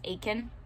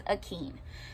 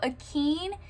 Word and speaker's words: Akin: following her son akin in my head before he like pronounced it out loud out loud i read it as aiken his name is akeem and so akeem um is the first